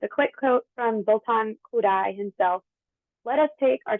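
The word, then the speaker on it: Kodály: of Americans pronounced it kodai um it's pronounced kudai as in how could I not use Solfege while I'm teaching music so could I so to give a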